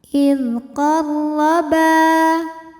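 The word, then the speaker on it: إِذْ قَرَّبَا: Huruf ra dibunyikan secara tafkhim karena berbaris fathah, maka dibacanya tebal. Idqarraba.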